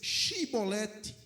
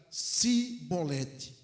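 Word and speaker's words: shibboleth: E dizendo ele: "Não, então lhe diziam: Diz pois xibolete". Porém ele dizia: "Sibolete, porque eu não podia pronunciar assim bem".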